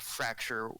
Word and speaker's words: Fraxure: But the comic book is called it's a series, and it's called Fracture, spelled with an X.